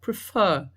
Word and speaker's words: prefer: Prefer, do mesmo jeito, prefer. A sílaba mais forte é o fer, então eu poderia repetir o R final e adicionar o ing.